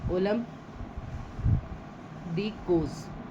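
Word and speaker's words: Olympe de Gouges: ओलंप दी कोस। ओलंप दी कोस। ठीक है? इसमें एस क्या है? साइलेंट है।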